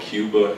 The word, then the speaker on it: Cuba: this poem it's called Cuba in Mount tab but Cuba in Kingson Arkansas is pronounced Cub um and I was